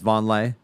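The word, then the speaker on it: Vonleh: Noah's Noah's name is it's pronounced Von lay I think so yeah is that right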